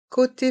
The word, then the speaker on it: côté: un siège un siège côté fenêtre C t fenêtre ici le O avec un accent circonflexe se prononce comme la lettre O sans accent côé fenêtre et le